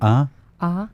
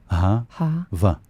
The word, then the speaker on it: Ahava: Ahava. Ahava.